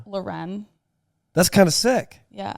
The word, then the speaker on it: Lauren: No, it's spelled like Lauren, but it's pronounced Loren.